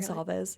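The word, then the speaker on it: Goncalves: Gonsalves.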